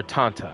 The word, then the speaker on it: Tanta: And this is the Tanta statue. Or Tanta, I believe, is actually the better pronunciation.